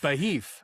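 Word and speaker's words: Be'ef: Um, I mean, I I I think it's more of like a B e apostrophe ef kind of beheif.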